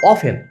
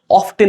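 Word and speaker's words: often: তার ফ্রিকোয়েন্সিকে বলা বলছি এখানে সবাই বেশিরভাগ মানুষ এখানে একটু ভুল করে অফটেন উচ্চারণ করার চেষ্টা করে বাট এইখানে টিটা সাইলে একটু মাথায় রাখবেন অফ আচ্ছা হাল কত মানে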